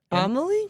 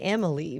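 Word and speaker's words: Amélie: the whole Google pronunciation it looks like French so I would say Emily but it's the girl that's like looking like this right at the cover like with a kind of white face yeah amaly I got it right look at me I I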